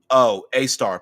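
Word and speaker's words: Sagittarius A*: Ours is called Sagittarius A, pronounced A star, pronounced A star, and it's 4 million times the sun's mass.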